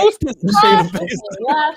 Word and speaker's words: Shayna Baszler: Shayna Baszler. You have to say it like that.